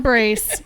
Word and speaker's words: Brace: shout out to Don brace your number one listener rhymes with mace rhymes with mace Don mace yes happy Mother's Day